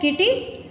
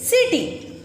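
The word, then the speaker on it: city: ये क्या लिखा है, किटी? नो, इट इज़ नॉट अ किटी, इट इज़ सिटी। अब छोटे बच्चों के काफ़ी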